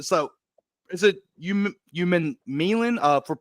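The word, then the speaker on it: Umanmielen: So is it Human Milan? It's for Princely. I don't know how to pronounce. I know you know it better than I do. So It's Uman Mielen.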